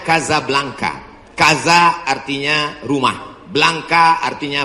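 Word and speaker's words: Casablanca: kuliah nama negaranya Maroko ibukotanya tulisannya Caca blancha cara bacanya Kadzab langka Kaza artinya rumah Blanca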